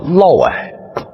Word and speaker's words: 嫪毐: 你要看我们屏幕下方这俩字，它读音叫嫪毐。